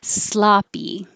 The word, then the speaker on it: sloppy: effort you could make sloppy this looks like an o but it sounds like ah sloppy it made me